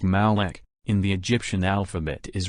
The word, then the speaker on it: Moloch: represents the age of taurus the letter M pronounced Malek in the Egyptian alphabet is represented by a